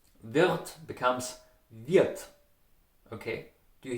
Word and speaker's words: wird: You would say, for example, wird. Wird becomes wird, okay? Do you hear the difference? Wird, wird, wird, wird, wird. Okay, so the R, it's transformed to an A.